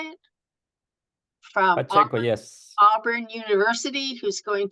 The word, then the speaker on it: Pacheco: From Pacheco, yes.